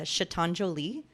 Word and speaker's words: chatonjolie: instagram name's a little weird it is uh chatonjolie but it's spelled chat on so c-h-a-t-o-n-j-o-l-i-e that's my instagram